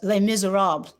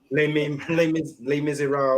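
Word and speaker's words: Les Misérables: stage, like, you know, Pearly, Hair, you did Les Miserables also, right? It's pronounced Les Miserables. Les Miserables.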